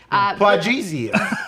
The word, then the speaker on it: Plagueis: hard G. Plagueis.